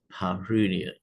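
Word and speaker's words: perineum: So any pain in your penis or testicles or perennium which is pronounced parunia.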